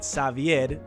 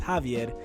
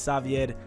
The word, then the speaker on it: Xavier: but so my name my real name is xavier right it's xavier my family pronounces it savid so uh but all my life when i was in school people thought it was javier and i would always have to be like no it's savied uh it's it's with